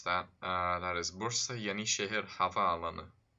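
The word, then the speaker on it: Bursa Yenişehir Havaalanı: So, if you're wondering how to pronounce that, that is Bursa Yeni Şehir Havaalanı.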